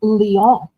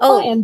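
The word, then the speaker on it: Lyon: Oh, I was just going to say strangely enough, it's pronounced Leon, not Lion, but Leon.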